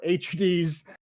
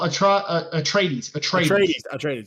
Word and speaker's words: Atreides: RFCL Coach Recruit Draft, Southern Utah selects Paul HD's a strong safety owned by Nismo. There's a 100% chance I said that name wrong, but you did. Okay. Paul Atreides.